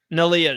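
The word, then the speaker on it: Neleh: nah niia nah nalia okay so singer like but with an N nalia she nalia she sat next to um nalia and she became the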